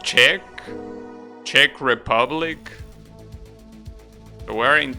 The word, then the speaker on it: Czech: know how to pronounce this actually is it she shet how do you pronounce that word Tim okay interesting bottom an interesting bag in Czech oh it's pronounced Czech Czech Republic so we're in Czech Republic right